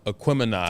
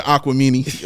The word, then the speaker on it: Aquemini: I remember when he butchered um Aquemini oh not the aquamani oh no he did